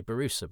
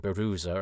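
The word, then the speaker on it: Borusa: I would always say Barusa, but because uh Nev is saying Barooa, I've I've sort of chameleonized my pronunciation.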